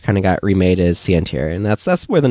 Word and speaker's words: Sientir: Online I used the username of Sientir. That's how you pronounce that.